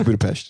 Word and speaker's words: Budapest: It's Budapest.